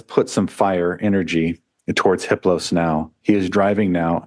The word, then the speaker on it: Hiplos: His name is Hiplos. The H is silent.